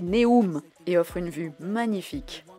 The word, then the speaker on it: Neum: Ce tronçon est situé dans la ville de Neum, oui, prononcé Neum, et offre une vue magnifique.